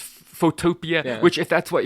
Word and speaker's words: Photopea: which, by the way, I thought was called Photopea. Because it's spelled exactly it's like spelled the word exactly photo and like- then the word Yes. PEA, I should say. But apparently, it's intended to be pronounced Photopia, Yeah.